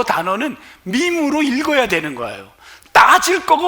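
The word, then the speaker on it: meme: 지금 이거를 매매나 미미로 읽은 사람들은 청년들과 말할 자격이 없어요. 이거는 우리 학생들은, 우리 학생들 한번 읽어볼게요. 뭐라고 읽죠? 밈으로 읽습니다.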